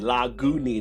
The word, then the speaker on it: Lagunitas: me this last year I say Lockwood it's actually a lagu knee this is how you're supposed to pronounce it but unless I say